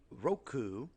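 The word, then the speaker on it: ろく: okay six things so six is normally roku like the roku stick let's see how it's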